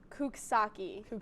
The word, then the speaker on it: Coxsackie: i'd give you half a point this one coxsackie it's not a disease it's the google pronunciation of it is i think kukasaki so you were kind of very awkward close enough yikes